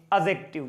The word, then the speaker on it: adjective: बोला जाता है देखो एडजेक्टिव नहीं पढ़ा जाता है इसमें जो डी होता है ये साइलेंट होता है ठीक है तो इसको पढ़ते हैं एडजेक्टिव क्या पढ़ते हैं एडजेक्टिव पढ़ते हैं और